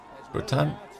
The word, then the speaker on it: Bretagne: Bretagne? Oh. Oh, that's how you pronounce it.